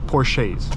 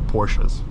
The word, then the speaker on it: Porsche: used in uh in Porsche Porsches or Porsches whichever way you want to pronounce it great performance plenty of